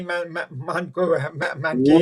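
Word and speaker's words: Munguía: Munguia, am I saying it right? Yeah, Jamie Munguia, right.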